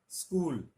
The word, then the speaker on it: स्कूल: कुछ लोग इनको उच्चारण में ई लगा देते हैं, स्त्री बोलते हैं। यहां स्पष्ट से पहले कुछ लोग अ भी लगा देते हैं भ्रमवश, बोलते मैं आपके सामने स्पष्ट करना चाहता हूं। बहुत हास्यास्पद उदाहरण बन जाता है। इस तरह स्कूल को स्कूल बोल देते हैं कुछ लोग। ये वास्तव में इससे पहले कोई अन्य स्वर नहीं है, लेकिन इसको उच्चारण थोड़ा सजग होकर करना होता है, इसलिए लोग इसमें गलती कर जाते हैं।